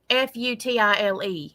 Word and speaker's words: futile: know it would be feudal. F U T I L E in case you didn't know how to spell that or futile if you want to pronounce it like you like you pronounce police.